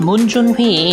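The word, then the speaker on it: 문준휘: June's full name is pronounced Moon Jun-hee in Korean, and his Korean vocabulary is unbelievable compared to other non-Korean members of 17.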